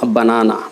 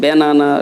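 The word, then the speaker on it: banana: স্যার কলা ইংরেজি তো ব্যানানা, উচ্চারণ করবেন বানানা, বানানা। হ্যাঁ, এটা আপনার কাছে একটু অযৌক্তিক লাগতে পারে। স্যার ব্যানানা, সারা বছর পড়ে আসলাম ব্যানানা, এখন এসে বলছেন বানানা। সমস্যা নেই, ব্যানানা বললেও চলবে, ওকে।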